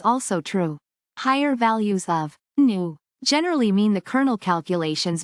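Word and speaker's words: nu: properties particularly when the smoothness parameter new pronounced new is set to 2.5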